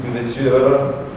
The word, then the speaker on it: Louverture: We named the correct pronunciation, Louverture.